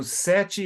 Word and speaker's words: Sete: Okay, so Sete is pronounced like the number?